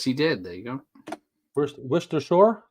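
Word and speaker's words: Worcestershire: fish is my where wer Shore prier uh yes he did there you go wer Shore that's how you say it wers w wers w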